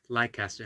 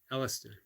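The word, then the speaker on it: Leicester: is funny because barfoot just says can Eric pronounce Li Caster how close was I um classic East Coast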